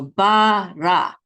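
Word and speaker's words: בָּרָא: And this is bara. Accent is on the last syllable, ra.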